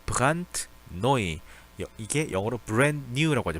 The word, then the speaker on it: brandneu: 자, brandneu. 이게 영어로 brand new라고 하죠. brand new라고 하죠. 이걸 독일어로 brandneu라고 합니다. 자, 이거 자체가 원래 D는 단어 끝에서 T 소리가 나죠. 그래서 brandneu라고 읽어줍니다.